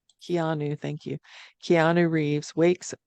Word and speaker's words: Keanu: Yeah, Keanu. Keanu, thank you.